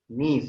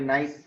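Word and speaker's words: niece: इसको प्रोनाउंस क्या करेंगे? नीस। और कभी कोई नाइस बोल देते हैं, प्रॉपर प्रोनाउंसिएशन नीस बोलेंगे।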